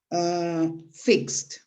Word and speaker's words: fixed: The second group is when you pronounce ed like a T. Example, fixed. Fixed. So, fix is the pronunciation of the verb in present, and then the pronunciation of ed in the past is fixed.